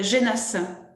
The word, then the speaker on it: Genas: De Genasse. Ça s'écrit G-E-N-A-S, mi-pleine, mais je ne connaissais pas le nom.